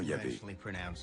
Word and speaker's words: Yahvé: Dans l'un des récits, Abraham appelle Dieu par son nom propre, qu'on prononce traditionnellement Yahvé. Les passages faisant référence à Yahvé, qui s'écrit avec un J en allemand, correspondent à la source J.